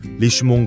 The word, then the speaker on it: Richemont: 이번에는 스위스 시계 산업의 또 다른 축, 리치몬트 그룹, 프랑스어 발음으로는 리슈몽 그룹을 살펴보겠습니다.